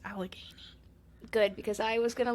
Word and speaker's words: Allegheny: what did I say Alchemy yeah but it's Allegheny Allegheny okay I'm probably gonna say don't [